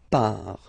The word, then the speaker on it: pars: So final S not pronounced. Je pars.